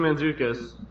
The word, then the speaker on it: Mantzoukas: Mantzoukas, is that how you say it? Yeah, Jason Mantzoukas.